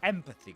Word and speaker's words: empathy: So empathy, guys. So empathy. This is a noun and the stress goes on the first syllable.